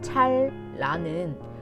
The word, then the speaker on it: 찬란하다: 반짝하고 말할 때 니은 받침을 부드럽게 도움닫기 삼아 짝하고 내뱉는 발음은 무언가에 빛이 닿아서 튕겨나오는 모습 그 자체인 것 같고 찬란하다는 말의 실제 발음인 찰라는 찰의 받침 리을과 란의 자음 리을이 파도 능선처럼 이어지는 기분이 들어 앞서 비유했던 것처럼 햇살이 닿은 물결의 느낌인 것이다.